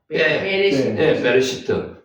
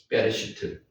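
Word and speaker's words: בְּרֵאשִׁית: 비읍의 에 발음이잖아. 비읍의 에가 베레시트. 그러니까 첫 자만 읽으면 이제 어느 정도는 나와요, 그죠? 첫 자, 베레시트.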